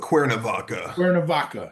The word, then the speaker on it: Cuernavaca: episode on that Mexican town, Quanavaka. Is that how it's said? Is how it's said? Yeah, I go with Cuernavaca.